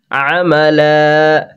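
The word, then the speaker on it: عَمَلًا: আছে এখানে দেখিয়ে দিচ্ছি, লাম আর আলিফ আর দুই জবর, তাহলে একটা জবর আলিফের সাথে মিশে যাবে আর একটা জবর দিয়ে টান হবে, তাহলে কি বলবো? আমালা।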